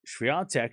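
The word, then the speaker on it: Świątek: Why do I always get corrected by like you're not Polish? Back off. I'm Polish approved. All right. The Polish people in the chat are like, you say it correctly. Come to Poland.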